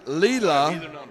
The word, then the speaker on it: Leela: I would have said it wrong every time. This is Leela.